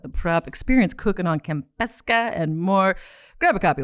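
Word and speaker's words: Kampeska: Okay, so Campesca.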